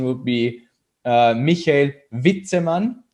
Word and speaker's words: Witzemann: right michael whitseman or whitetailman um neither neither one uh yeah but that's that's a really common thing so actually the real pronunciation would be uh michael vitteman so v instead of w mikhail right yeah but